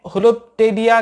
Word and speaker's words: Holoptelea: होलोप्टेलिया कहने का मकसद यह है, होलो यानी मुकम्मल या होल, और टेलिया, पी यहाँ पर साइलेंट है, टेलिया यानी विंग्ड शेप या विंग लगा हुआ या पंख लगा हुआ।